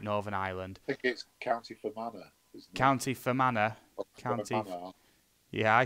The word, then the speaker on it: Fermanagh: different one new can castle eaves town county fair manner I think I've pronounced that right Northern Ireland County Fermanagh yeah I said county fair manner Dena County